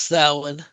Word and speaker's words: Samhain: It's pronounced Samhain.